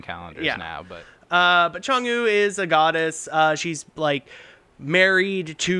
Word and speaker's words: Chang'e: It's named after Chang'e. That makes sense. One more Spelled time. like What is Cha- it? Chang'e. It's spelled like Chang apostrophe E.